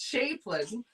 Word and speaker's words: Chapin: Teresa said it's Harry Chapin, but I said it's Harry Chaplin or Chapin, but it's Chapin.